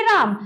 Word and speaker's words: रामः: तो इसको हम पढ़ेंगे राम, इसमें ये विसर्ग लग गया तब पढ़ेंगे रामः, यानी अंतिम में क्या आना चाहिए, ह आना चाहिए। इस तरह से उच्चारण होगा।